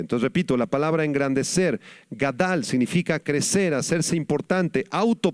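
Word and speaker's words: גָּדַל: Este término hebreo es la palabra gadal con acento en la segunda a gadal que significa crecer o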